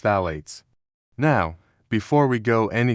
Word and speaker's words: phthalates: the family of chemicals called phates pronounced phalates.